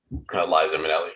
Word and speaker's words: Liza Minnelli: Liza Minnelli.